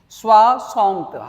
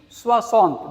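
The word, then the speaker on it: soixante: Swasant. How do you pronounce 60? Swasant. This is 60. Huh? This is 60. Swasant.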